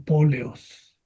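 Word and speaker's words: πόλεως: Poleos o póleos. Y mantuvo el acento entonces en la antepenúltima sílaba, aunque esto no debió haberse hecho. Esto es, se esperaría que se escribiera póleos, tal y como sucede con basileos, pero lo hicieron de esa manera para la poesía.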